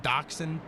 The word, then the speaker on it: dachshund: dog but it just it's spelled dash hound and i think it's pronounced dachshund but i digress we're